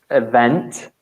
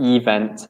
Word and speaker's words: event: Also, we picked up 2 pronunciation things in particular, which is event with the stress on the second syllable. Yeah. Not event.